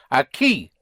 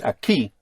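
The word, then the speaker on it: aquí: The the K sound in Spanish is spelled with a Q U. So a key would be spelled A Q U I with an accent. The accent where over the I, right?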